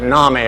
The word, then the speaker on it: NAMI: the mentally ill nominee no coincidence that nami rhymed with mommy except in alabama where it's naomi rhymes with mimi uh but whether it's